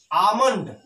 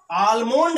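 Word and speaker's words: almond: तो उसी प्रकार से इसमें भी यल साइलेंट है और इसको आमंड बोलेंगे। आमंड, ठीक। आलमोंड नहीं कहेंगे, आमंड।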